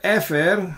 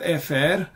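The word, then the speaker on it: אפר: And this word efer, which was there here, ve'asaf ish tahor et efer. So this word efer means ashes. And interestingly, this word also rhymes with the word afar.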